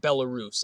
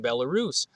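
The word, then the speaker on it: Belarus: chart from Bolis now bellarus I think it's pronounced uh which is not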